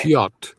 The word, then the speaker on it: Piotr: Piotr. I'll do it very slowly. Piotr. Piotr. And you can skip the R, and you could make it a little sound.